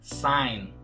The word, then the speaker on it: sign: E qual é a letra que nós não vamos pronunciar aqui? O G. A pronúncia correta dessa palavra é sign.